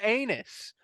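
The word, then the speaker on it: Annis: called there's no way it has to be pronounced like anise and then we went and looked at it and it was anus even though it's not spelled that way it's spelled like a-n-n-i-s that's for yeah to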